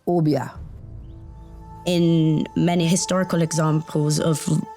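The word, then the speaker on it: Obeah: It's pronounced Obia.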